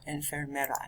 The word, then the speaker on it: enfermera: working with that word notice that infermal or inferma means sick en fermero add an extra syllable in there refers to a nurse add an extra er in the middle of that one and fair mero or enfermera next one pause the